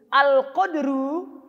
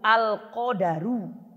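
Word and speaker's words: القدر: Makanya dijelaskan sama Syekh di sini, kalau takdir dalam bahasa Arab itu al-qadaru, dalnya pakai fathah, bukan sukun. Kalau antum sukun, maknanya beda. Apalagi kalau antum bacanya harokat qafnya kasroh, al-kidru.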